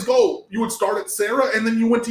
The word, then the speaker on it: SCERA: Sarah High School, they used to nickname it US Sarah because all those guys, because it's spelled SCERA, but they would always go, you would start at Sarah and then you went to USC.